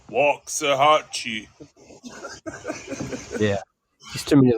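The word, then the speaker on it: Waxahachie: I love wax AE or as they pronounce it walk aahi yeah there too many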